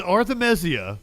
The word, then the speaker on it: Arthemesia: for context, this is Arthemesia. Did I say it right? Yes, sir. Okay, cool. I think so.